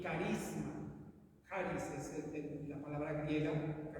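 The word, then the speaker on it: χάρις: Bien, la gracia viene de una palabra griega, como la encontramos en el Nuevo Testamento, una palabra griega que es charis, con J y acento en A, charis.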